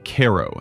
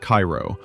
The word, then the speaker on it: Cairo: Pronounced Kairo, not Cairo, unless you want to get clocked with a history book.